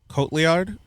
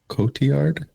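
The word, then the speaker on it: Cotillard: Gary Olman, Anne Hathaway, Tom Hardy, Marian, uh, Kotliard, I forget how to say her name. Kotiard. Yeah, I think because it's the double L.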